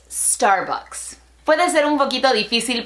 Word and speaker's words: Starbucks: 10 min bryant es la pronunciación de esta marca no es estar books ni starbucks es estar box puede ser un poquito